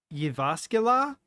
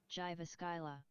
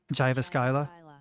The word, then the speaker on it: Jyväskylä: I don't remember how the J's are pronounced in Finnish. Oops. Jyväskylä. Jyväskylä. Jyväskylä. That's not how I would have predicted it sounding, but cool.